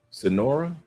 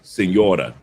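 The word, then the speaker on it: Señora: Sonora? I think I pronounced that Sonora correctly. He said I was late. He said I want like wait Sonora. I was like wait Sonora. Oh, okay, Senora.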